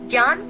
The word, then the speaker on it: ज्ञान: जना इस व्यंजन का शब्द बना है ज्ञान। ज्ञान को बोलते वक्त ध्यान दीजिए कि इसमें ज्ञा का एक अलग उच्चारण होता है।